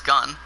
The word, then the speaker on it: Gunn: This is actually pronounced as gun.